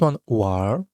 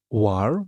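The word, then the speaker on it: 玩儿: So as you can see if we have a this one r instead of one we read it war but we still write n but you don't pronounce it.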